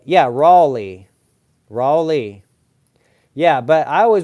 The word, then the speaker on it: Raleigh: and then Le cuz it's l e i g h which would be Lei and R A is like raah rale so it I don't know it's weird Raley yeah Raley I know that's how you say it right that's how you